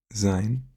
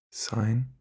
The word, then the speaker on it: sein: Here it's also important to not say sign. I know in English you might know the show Seinfeld. In German it's not sign. Alright? It's sein. It's a soft S, I think, is what they call it.